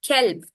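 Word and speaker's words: كلب: One is qalb with a qaf. The next one is with a kaf, kelb.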